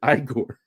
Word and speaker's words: Igor: no he goes well you're eigor aren't you no I pronounce it igore yes well I'm sorry